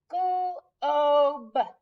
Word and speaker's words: globe: Same word, add the E. Now we know it's a long O sound, so it's going to make the O sound. So let's sound it out now. Globe, globe, glob, globe. That E makes all the difference.